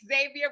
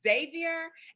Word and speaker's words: Xavier: just politely told that I have been pronouncing it Xavier with my Southern Belle accent, and it's Xavier.